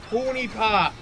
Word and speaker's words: Honey Pop: No, it's a Hoonie Pop. It's Hoonie Pop.